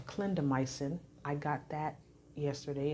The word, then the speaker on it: clindamycin: Well, I know one of them, it's pronounced clindamycin.